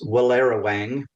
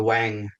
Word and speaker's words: Werowang: The name of the station is Werowang. Um uh but it doesn't look like that's spelled. Uh and in fact locals just call it the Wang rather than trying to